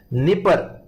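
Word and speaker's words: Dnieper: इसके अलावा यूक्रेन एक फेमस कंट्री जिसमें जहां पे वेरी फेमस रिवर्स फ्लो करती हैं, निपर, यहां आप देख सकते हैं D silent, निपर एंड नीस्टर river out है, नीस्टर।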